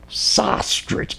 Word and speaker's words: Sostarich: And I'll tell them, okay, say ostrich and put an S in front of it. Sostarich. That's the way to do it.